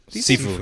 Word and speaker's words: Sifu: Sifu? Sifu, yeah.